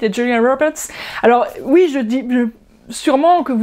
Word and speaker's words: Julia Roberts: plus à la radio, les noms d'acteurs qui sont prononcés à l'anglaise, correctement, c'est pas Brad Pitt et Julia Roberts, mais on le prononce avec un bon accent, Brad Pitt et Julia Roberts.